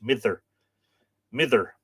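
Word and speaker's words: Midir: Midger, I'm told that in Middle Irish, if the D falls between two vowels, it's pronounced like a TH, mither. But I always say Midger, and I'm probably butchering it.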